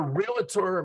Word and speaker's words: realtor: actually this is our realtor Mastermind and I know I said realtor with three syllables it's supposed to be two I catch heck for